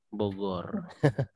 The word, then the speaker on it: Bogor: Sebagaimana tadi tulisannya bujur, tapi bacanya Bogor.